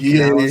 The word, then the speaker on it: Canales: I was like, how do you pronounce his name again? Dave Canales.